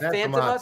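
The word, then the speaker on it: Fantômas: Is that how you pronounce that? Phantomas, Phantomas. yeah.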